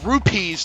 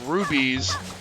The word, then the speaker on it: rupees: I better say rupees too and not rubies. That's another thing that's easily mispronounced.